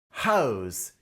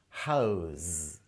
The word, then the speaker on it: house: in a particular place it's pronounced with a light z sound instead of the usual s house this Museum houses some